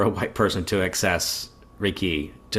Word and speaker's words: Reiki: And am I correct that the emphasis of the word Reiki, it's on ki? Reiki?